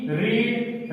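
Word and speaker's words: read: ठीक है, यानी कि एक ही स्पेलिंग है, रेड फर्स्ट फॉर्म भी है, रेड रेड, लेकिन प्रोनाउंसिएशन जो होता है रेड आता है थर्ड फॉर्म में।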